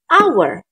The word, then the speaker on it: hour: Tapi, walaupun dia diawali oleh huruf konsonan, kalau kita membacanya hour. Berarti kan A ya, hanya nggak ada hour. Karena kita membacanya dengan huruf vokal, hour, otomatis di sini kita isi dengan artikel N. Ingat teman-teman, bukan E, tapi N. Karena kita membacanya our.